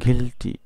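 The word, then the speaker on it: guilty: তার মানে UI একসাথে থাকলে উচ্চারণ হবে ই এর মতো। তাহলে উচ্চারণ হচ্ছে কি? গিলটি।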